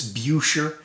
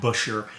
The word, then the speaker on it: Buescher: i've been told it's beucher the american pronunciation is generally busher and i'm satisfied with